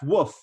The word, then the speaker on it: wff: silly when i say woof for a few times but honestly this is what logicians really do pronounce this word as uh we say woof and once once i